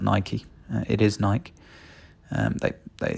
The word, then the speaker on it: Nike: Gets a Nike, and Nike is how you pronounce it, not Nike.